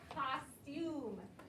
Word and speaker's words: costume: All right, our next vocabulary word has the word cost and then a long U because there's an E that jumps over to make it long. So it's costume, costume.